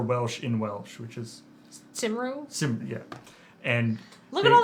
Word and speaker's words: Cymru: Apparently it's pronounced Cymru.